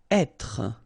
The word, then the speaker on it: être: Être. Okay, so remember that when you get this accent circonflexe here, you should really pronounce it openly.